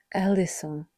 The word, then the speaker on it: eleison: In the original language, the word is eleison. The same root we hear in the ancient prayer. In Greek, it is pronounced as Kyrie eleison.